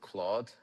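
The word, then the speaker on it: Clawd: And the agent, back then it was called Claude. Careful, the D is silent.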